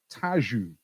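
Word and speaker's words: Tejo: city does the river tajou flow through now it says tagus doesn't it but i somebody told me how it pronounced this once and i think it's tajou so which european capital city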